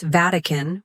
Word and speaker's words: Vatican: Notice how I pronounce Vatican with stress on the first syllable.